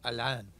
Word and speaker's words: Alain: If you're French, it's Alain.